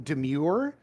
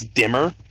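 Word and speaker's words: Dimir: Yeah, Mike, you said it wrong. It's dimmer. Dimer. I know how to say my guild. I think you'll find it's pronounced dimer.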